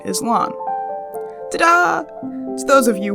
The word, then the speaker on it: Lan: Hayne and the one on the right is lon Tada to those of you who are already